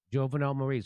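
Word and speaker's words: Jovenel Moïse: Jovenel Moise.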